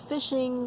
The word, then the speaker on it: phishing: looking for your information it's spelled p-h-i-s fish but it's fishing like fishing for fish only they're fishing for